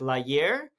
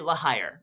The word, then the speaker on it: La Hire: There's this very important character named, his name is spelled L-A, La, and then his H-I-R-E, like you're hired. But in French, I assume that would be something like La Hire. They say La Hire, right?